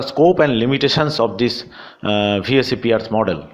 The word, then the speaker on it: VSEPR: pair repulsion theory, or VSEPR theory. Some people do pronounce it Vespar theory, but please don't do it, right?